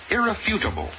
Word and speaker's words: irrefutable: would remain as testimony the word irrefutable accent on the third syllable not the second johnny i know i